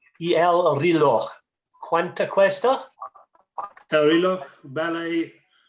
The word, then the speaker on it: reloj: Whenever I say clock in Spanish, Lucia always makes me say it 3 more times. Apparently it's reloj, reloj, reloj, reloj, reloj.